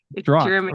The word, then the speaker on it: Drache: to your community and as far as my last name is pronounced Dr okay yeah it's old Germanic for Dragon which kind of fits